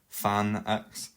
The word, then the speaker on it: tanh: And then finally, we have tanh x, or some people pronounce it fan x.